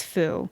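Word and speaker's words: Fuu: Like, so my old dog's name was Foo, and we spelled it F-U-U, but what I see everywhere now is F-O-O, which is how people would spell it, you know.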